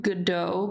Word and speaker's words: Godot: yeah the the creator of Godot pronouncing a DOT because he is Argentinian so in Spanish you like pronounce the letters but the name is based off of the Samuel Beckett's waiting pergado which is French and they pronounce it Godot um so yeah when